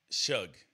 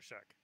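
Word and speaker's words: Shough: Pronounce this word, S-H-O-U-G-H. S-H-S-H. Oh, you. Shug. Yep, there we go. See? Shout out to Tyler Shug.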